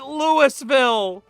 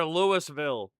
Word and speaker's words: Louisville: They pronounce it Lewisville. No, we're not like that town in Kentucky. They're Louisville. We're Lewisville.